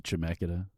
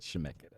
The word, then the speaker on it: Chemeketa: I went to Chemeketa. It's not even how you say it. I didn't even get into Chemeketa. How do you say it? Like that. Oh, Yeah, how Mike did. how'd you say it? Chemeketa.